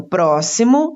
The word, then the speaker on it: próximo: Então, próximo está acentuada a antepenúltima sílaba, pró.